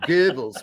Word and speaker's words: Goebbels: I'm pretty sure it's Goey Bells. Bells. It's not good. It's good. I mean, you Goey Bells. Goebbels. Okay, if you're German, you do Goebbels. But in the United States, it's just pronounced Goebbels.